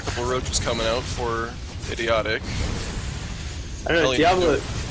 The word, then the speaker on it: IDIOTEQUE: Okay, I've just Any been told kind by of- SOCOM, one of the watchers, saying it's pronounced idiotic, not IDIOTEQUE.